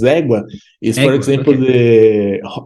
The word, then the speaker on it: égua: It looks like agua, but it's igua. Igua, is that Igua, right? igua, man, this Igua. word is very funny because, for example, igua, égua, the correct is égua, is, for Egua.